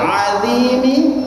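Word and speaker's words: العظيم: Ya, jadi baca subhana, ulangi subhana rabbiyal, rabbiyal azimi, azimi wa bihamdi, wa bihamdi.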